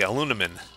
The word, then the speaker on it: aluminum: I love how the Brits say aluminium. Whereas my local accent tends to say aluminum.